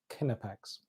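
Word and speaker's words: Knipex: Jamie Jamie Reed has helped me out is pronounced uh kinnipex thanks Jamie uh so this stuff is pretty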